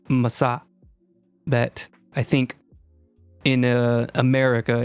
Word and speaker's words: Mahsa: name so you would her name as she would say it is massa but i think in